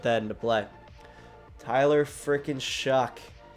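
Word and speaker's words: Shough: Tyler frickin' Shuck. It's spelled S-H-O-U-G-H. And it's pronounced like Shuck.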